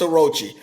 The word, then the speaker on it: Orochi: St Charlos Aku or or is it Orochi the dude from uh wano is it Orochi did I say his name right yes it's Orochi all of these are